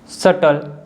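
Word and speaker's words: subtle: रूल number 2 के examples हैं doubt, date, सटल। तो इन तीनों वर्ड्स में जो बी है या टी के पहले आ रहा है, ठीक है, इसलिए बी साइलेंट है।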